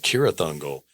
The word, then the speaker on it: Cirith Ungol: cuz in the books, it's pronounced like with a K like Cirith Ungol."